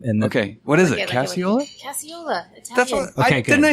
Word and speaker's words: Casciola: you to introduce her just so I wouldn't butcher the last name and okay what is it casual definitely I can I say like using it